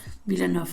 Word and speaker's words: Villeneuve: Se escribe Villeneuve, me parece. Villeneuve, ahí va. El señor que habla francés me instruye acá de cómo se pronuncia.